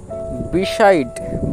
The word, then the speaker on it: beside: এবার DEতে ড, কারণ এক্ষেত্রেও যে ই লেটারটি আছে সেটি সাইলেন্ট থাকবে, আর ডি এর জন্য ড হবে।